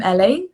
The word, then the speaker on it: Elle: Yeah, so I'm Ellie. First of all, my name is spelled really weird. So it's Ellie without an I, and like the fruit, like the animal.